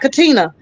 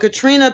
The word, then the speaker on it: Katrina: of work Katrina Katrina Katrina not Katina but Katrina Pearson put into trying